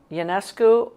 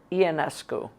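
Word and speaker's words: Ionescu: How do you pronounce Sabrina Yanescus? Yanescu or Yianescu? I say Yanesco.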